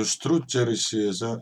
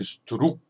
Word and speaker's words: struggersi: Ma struggersi, io struggersi에서 여러분들이 struck 이렇게 기억 발음을 하시면 안 됩니다. struggere, struggere. 우리 발음으로 하면은 받침이 시옷 발음이 된다고 생각하시면 되고요. e tacer, ma struggersi e tacer.